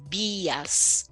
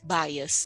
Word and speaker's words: Bias: fala sobre esse assunto chamado bayers se escreve falando exatamente no português Bias como se fosse Bia de Beatriz mas é no plural então code de dias cold baias é bacana vale a